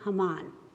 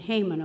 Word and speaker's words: Haman: highest official was H Haman I'd been pronouncing it hmon all day so thank you Pastor correcting me he hated the Jews